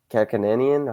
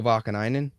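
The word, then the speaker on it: Vaakanainen: Kakko scoring and Kakanani and Kakananian. How do you say his name? Kakananian. Am I even close with that? Urho Vakanainen.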